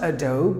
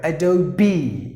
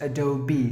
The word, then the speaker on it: Adobe: It's not Adobe, but Adobe. You have to pronounce the word as Adobe. Just imagine that there is one more E, and then you pronounce it Adobe.